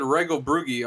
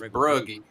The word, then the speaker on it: Regelbrugge: the top 3, and I learned how to pronounce his name before the race, and I said it wrong all night. I said Regelbrugge all night, but it's Brugge.